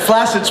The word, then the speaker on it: flaccid: And flaccid's pronounced flaccid, by the way.